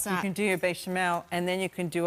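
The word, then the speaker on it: béchamel: Bechamel. No, that's not how you say it. Bechamel.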